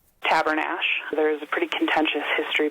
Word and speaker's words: Tabernash: Our viewer Heather was hoping that we could settle a debate on the pronunciation. So we asked the fine people at Cousins Ranch Museum, what do you say? Tabernash.